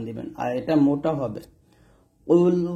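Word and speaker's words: قُلْ: কফ লাম পেশ কুল। কফ এখানে মোটা উচ্চারণ করতে হবে যেন কাফের মতো না হয়।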